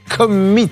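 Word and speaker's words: Commeet: correctement le nom de sa société qui est Commit. Très exactement. Exactement. Voilà. Ça s'écrit C-O-M-M-E-E-T-T.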